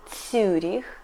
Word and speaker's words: Цюрих: But, for example, in city Цюрих we pronunciate Ю like ю .